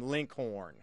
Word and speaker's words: Lincoln: was a young boy he would have pronounced his name and his neighbors would have pronounced his name Linkhorn so the RS were uh were were emphasized and uh it sounded